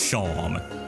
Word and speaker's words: Seam: The name Seam, pronounced Sham. Then why do you write it like Seam?